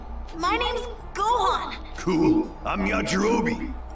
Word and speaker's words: Yajirobe: I'm Yajirobe. Oh, Yajirobe. That's how you say it.